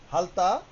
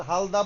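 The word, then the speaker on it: 핥다: ওয়ে গোল ওয়ে গোল তারপরে হালথা হালতা এইটা তা কেন হইলো দেখেন হালতা তা কেন হইলো এটা একটা ভাচ্চিমের নিয়ম আছে ভাচ্চিম রিয়েলের পরে যদি মূল বর্ণ দ্বিগুণ থাকে ভাচিম রিয়লের পরে মূল মূল বর্ণ দ্বিগুত থাকলে এটা তখন সাং দ্বিগুতের কাজ করে। তখন কি হবে? হালতা। এটা আপনার হালদা পড়েন কোন সমস্যা নেই।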